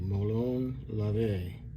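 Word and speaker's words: molon labe: m o l o n l a b Mone La is how you pronounce it and uh what that translate to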